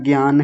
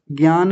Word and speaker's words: ज्ञान: कहते हैं ना कि इसको बड़ा ज्ञान है ज्ञान नहीं होता वो ज्ञान होता है ध्यान रखेंगे जी हां